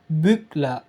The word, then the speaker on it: bügle: Bacanya itu ich bügle. Saya menyetrika. Jadi e sama l-nya itu ditukar.